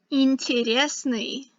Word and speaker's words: интересный: say them so that you know how they're pronounced. Интересный.